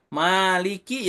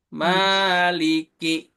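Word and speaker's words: مَالِكِ: Contohnya di surah Al-Fatihah ada maliki ya. Ma-nya itu di ayun. Maliki gitu. Nggak boleh maliki yaumiddin. Tidak boleh. Jangan kepanjangan. Cukup 2 harokat di ayun saja.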